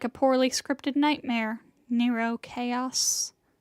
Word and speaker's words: Nero Chaos: Nero Chaos. Yes, that is how that is pronounced.